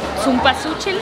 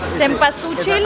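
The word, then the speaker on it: cempasúchil: Y muchísimo zumpazúchil, ¿cómo se dice? ¿Qué es zumpazúchil? Zempazúchil. Ah, esta flor. Esta flor para el Día de Muertos. Exacto. Zempazúchil. Zempazúchil. A ver, dime una palabra así muy difícil en alemán.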